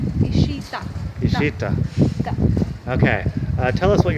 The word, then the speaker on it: Ishita: Is that the right pronunciation? Ishita. Ishita.